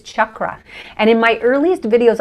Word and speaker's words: chakra: They would just go nuts with it, So I decided to take the CH, but the softer A. So I'm kind of doing an Americanized version, but the actual pronunciation just from Sanskrit is chakra.